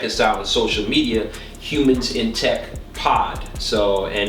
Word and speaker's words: Huemans: So it's called Humans in Tech, and it's spelled HUEMANS.